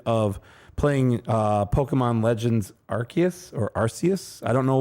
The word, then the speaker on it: Arceus: i think it's arceus no because you don't want to stick it up your arse or something like he he always pronounced it as ours to be like how does mark pronounce it it is arceus then i'm that's how mark pronounces that's how he wants to pronounce it but i believe the correct way is arceus but just say it